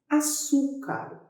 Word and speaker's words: açúcar: Açúcar. Por que açúcar é uma palavra que tem acento? Separa açúcar. Açúcar. Qual é a sílaba mais forte? É o su.